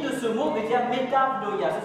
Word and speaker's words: metanoia: L'origine de ce mot veut dire metanoia. Ça s'écrit M-E-T-A-V-N-O-I-A.